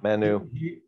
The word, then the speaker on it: Manu: Manu, am I pronouncing his name right? Is it Manu? Yep. Manu. Manu, is it Manu or Manu? There you go. Manu. Manu, okay. I got to put the emphasis on the right syllable.